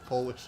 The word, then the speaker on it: Polish: It's Polish, not polish, as in nail polish.